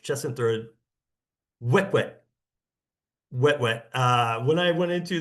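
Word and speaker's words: Huet-huet: It's actually kind of pronounced chestnut throat. Wet wet wet. Uh when I went into this trip, I was calling them Hu Hwitts.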